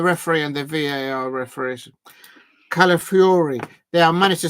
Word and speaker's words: Calafiori: Calafiori.